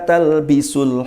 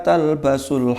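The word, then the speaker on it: تلبسوا: Sama jangan keliru bacanya. Wala talbasul haqqo. Itu nanti jangan pakai yang benar jadinya. Jangan pakai ing yang kebenaran, beda. Kalau wala talbisu bi, wala talbisul haqqo bil batil, jangan engkau mencampur adukkan ing sesuatu yang benar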